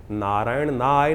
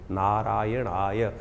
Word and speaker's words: नारायणाय: नारायण नारायण नारायणाय, नारायण नाय नहीं है, नारायणाय, ओम नमो नारायणाय।